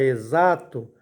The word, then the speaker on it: exato: ou então ex tu na palavra exato a letra O recebe som de u e a letra x o som de z aí nós temos